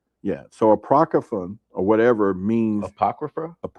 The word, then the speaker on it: Apocrypha: Apocro, am I pronouncing that? Apocon of that sounds right. Yeah. So, Apocryphan or whatever means Apocrypha.